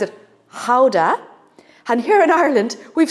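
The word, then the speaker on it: Gouda: recipe a beautiful Dutch cheese we call it guda the Dutch pronounce it Howa and here in Ireland we've somehow merged it and we call this GAA so it probably hurts any Dutch person's ears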